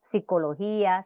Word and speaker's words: psicología: cacos que es papagayo en todos los casos se reduce PS a s grafía que refleja mejor la pronunciación normal de las palabras que contienen este grupo inicial como psicología psicosis psiquiatra pseudo profeta